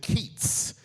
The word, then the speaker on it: Keith's: That brew, locals poetically pronounced it Keats.